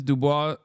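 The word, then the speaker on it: Du Bois: No, it's not Dubois.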